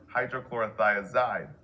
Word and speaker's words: hydrochlorothiazide: Potassium wasting ends in "ide, like furosemide or hydrochlorothiazide. Both rhyme with dried.